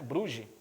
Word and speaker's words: Brugge: líder do campeonato belga o bug bugue né brugge bruges na verdade pela pronúncia belga será proclamado campeão nacional